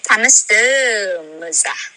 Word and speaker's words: tanıştığımıza: Tapi kalau dibaca dia nggak ada bunyinya. Jadi seperti memperpanjang saja huruf di belakangnya. Makanya tadi bacanya adalah tanıştığımıza. Jadi dia seperti hilang, tapi nggak bisa juga dibilang hilang, dia seperti panjang gitu.